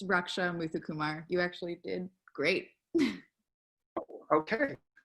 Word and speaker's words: Raksha Muthukumar: Raksha, first of all, forgive me for mispronouncing your name and your last name. Help me out here. It's Raksha Muthukumar.